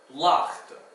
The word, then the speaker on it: laagte: The ch sound is spelled with a G. It's not exactly pronounced like a k or a g, it's like a ch. So, bergaan, or lichte, or laagte.